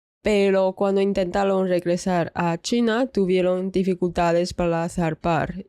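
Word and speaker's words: Qing: El origen de templo se remonta a 1746 durante la dinastía Chin. Bueno, Chin según su pronunciación en inglés es king, pero en chino ese carácter se pronuncia chin.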